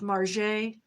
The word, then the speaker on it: Margaret: Margaret without the R. Margaret. Not Margaret. Margaret. Margaret. Margaret Marget, spelled like Marget, Marget.